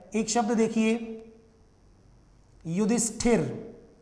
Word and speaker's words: युधिष्ठिर: कई बच्चे इसको क्या लिख देते हैं केवल, अच्छा बोलते क्या है युधिष्ठर, ऐसे बोल देते हैं। कई विद्यार्थी इस वाले शब्द को लिखते भी ऐसे ही हैं, बोलते भी ऐसे ही हैं, गलत है ये। आप शुद्ध उच्चारण करेंगे तो ही शुद्ध लिख पाएंगे, क्योंकि हिंदी एक ऐसी वैज्ञानिक भाषा है कि इसमें जैसा बोला जाता है वैसा ही लिखा जाता है। इसलिए युधिष्ठिर पढ़ें आप इसको और युधिष्ठिर ही लिखें आप इसको, ठीक है।